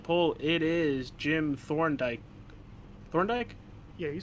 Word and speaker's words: Thorndike: Thorndike?